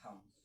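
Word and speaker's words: thumb: ये भी आपको याद हो गया होगा कि अगर एम के बाद बी आए तो हमारा बी जो है वो साइलेंट होता है।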